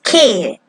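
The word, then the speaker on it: 気: We use key. It's that's how you say it.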